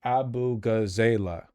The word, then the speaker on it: Abughazaleh: It's pronounced abughazaleh.